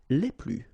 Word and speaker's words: les: and the plural form Le okay so keep in mind that I don't pronounce it this final s here so we get okay